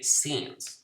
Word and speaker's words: scenes: magnificent views the scenes look at the pronunciation not not as things we say scenes okay the magnificent views